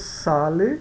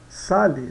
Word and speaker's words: sale: final tá então não no italiano sempre o e mesmo no final vai ter sempre o som de e atenci o acento sobre